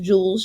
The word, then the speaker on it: joules: in the unit of the joules okay it's pronounced joules just like a diamond or a ruby and